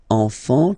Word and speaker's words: enfant: You don't pronounce the S.